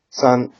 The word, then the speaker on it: 三: the number three so this is pronounced as I'm sure many of you already know son the reading is me so yep so let's